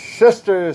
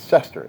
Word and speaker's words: sester: They call this semi-quincentennial or the sister centennial. Sister? That's sister? That's Sester, S-E-S-T-E-R. Centennial.